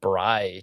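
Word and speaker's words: braai: But the overlanding in Africa plus the bri tasting, which is spelled B R A A AI.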